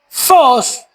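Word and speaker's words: φῶς: Y la palabra luz que aparece en nuestro pasaje proviene del original fos que se escribe ph o s.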